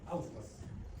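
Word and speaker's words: haustras: En primer lugar tiene apolitonaduras que se llaman austras. La palabra se escribe con H austras.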